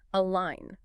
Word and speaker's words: align: And remember the pronunciation, the G is silent.